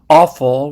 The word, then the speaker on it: offal: So a word in English, offal, which is spelled O-F-F-A-L, carries both the meaning of organ meat and also the English word awful, spelled A-W-F-U-L.